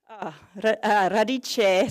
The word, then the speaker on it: Radiche: Radiche Soil Solutions, I've been told I have to say it like that, by Jacopo.